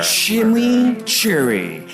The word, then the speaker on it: chimichurri: Chimichurri. That's how you pronounce it.